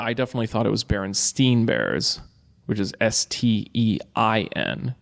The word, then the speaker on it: Berenstain: I can relate to hardcore is um the Berenstain Bears it's it's it's spelled b-e-r-e-n-s-t-a-i-n Berenstain right it was a children's